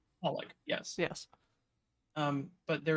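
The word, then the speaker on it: xxxHOLiC: there's a manga um it's spelled XXX holic and it's holic yes yes um but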